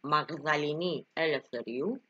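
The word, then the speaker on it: Μαγδαληνή Ελευθερίου: It's Magdalene Eleftheriou, or as they pronounce it in Greek, Magdalini Eleftheriou.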